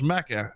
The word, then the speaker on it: Macca: i'll do would you you say his name was maca hey small macca m-a-c-k-a m-a-c-c-a oh like macca's yeah my name's maca hungry i'll uh i'll